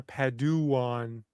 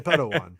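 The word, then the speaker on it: Padawan: I mean it doesn't she pronounce it pn or paduan or pedan because I got a feeling no don't say pedan don't say pedan well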